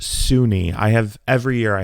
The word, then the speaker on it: SUNY: aren't from New York SUNY is s-u-n-y and it is pronounced Sunni I have every year